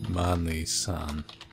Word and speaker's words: Manly-san: My name is Manly-san. You gotta pronounce the san part of the name because it makes me sound, you know, exotic and samurai-ish.